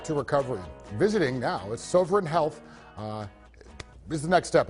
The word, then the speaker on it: Sovereign: Well, Sovereign? let me get Sovereign? Short O. Short O. Sovereign.